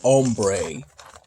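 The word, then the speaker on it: hombre: spanish word for man while there is an h in the beginning it's pronounced ombre i used a combination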